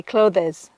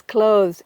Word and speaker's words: clothes: So many of my students say clothes. Nope, it's clothes.